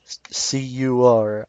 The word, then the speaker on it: CUR: The way I pronounce cur, it could be cur spelled C-O-E-U-R, which is the French word for heart, which could signify God's love.